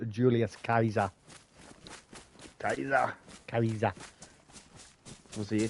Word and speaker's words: Caesar: yeah Jenga yeah yeah jingus car and Julius Caesar is pronounced Julius Kaiser Kaiser Kaiser was he a chief Kaiser Chief